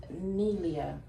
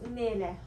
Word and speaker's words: Nele: Okay, I pronounce it Nelia. Nelia? Oh, yeah. No, It's Nele. Nele. Nele.